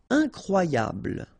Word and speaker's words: incroyable: Incroyable. Okay, same thing here for the final E. Don't pronounce it.